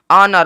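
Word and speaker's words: honour: एन ओ यू आर ऑनर ऑनर मतलब इज्जत देखेंगे अगर आप यहां पे एच ओ एन ओ यू आर है ना यहां पे यूज हुआ है एच जो है साइलेंट हो गया ओनर मतलब इज्जत एच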